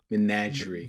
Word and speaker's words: menagerie: able to pronounce menagerie menagerie it's fine i'll i'll get to it eventually one day menagerie menage menagerie think about nicki minaj but but yeah menagerie